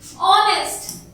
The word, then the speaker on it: honest: And honest. O. H is silent.